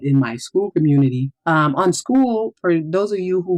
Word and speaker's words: Skool: On school, for those of you who might not know what school is, it's spelled SKOOL.